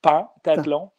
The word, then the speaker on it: pentathlon: On dit bel et bien, ça s'écrit « pentathlon ». Mais ça se dit bel et bien en phonétique en français, pentathlon des neiges.